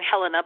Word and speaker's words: Helena: it's WW judge and I pronounce my name Helena but it's okay spell the same way is a it's a it's a pronounced different ways hele na so it's judge Helena